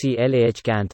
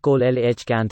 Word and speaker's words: coelacanth: something at most till they are pronounced clah cant and not coal lh kant as i previously thought interesting i was hoping